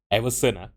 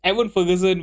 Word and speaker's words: Evan Ferguson: by everon Evan Ferguson why am I always pronouncing his name as everon it's Evan Ferguson with our first goal